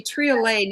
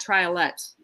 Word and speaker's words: triolet: It would be triolet, not triolet, right? Because it's French.